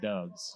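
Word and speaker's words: Doubs: doves who they called Dobbs which annoys me who got hurt and he's badass Dobbs is not pronounced Dobbs d-o-u-b-s okay and Nevada we call that doves oh okay all right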